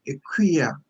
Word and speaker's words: Ekua: Even though it is spelled Ekua, we sounded Equia.